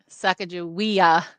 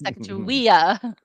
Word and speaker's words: Sacagawea: Sacagawea, not Sacagawea, Sacagawea.